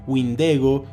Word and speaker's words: windigo: a este mismo ser sin embargo es wingo Wind igo la que más encaja con la pronunciación de los pueblos que dieron origen a la historia de este